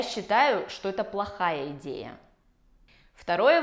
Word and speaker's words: считаю: И первая альтернатива – это «я считаю». Обратите внимание на произношение. «Считаю» с «ч» превращается в «щ».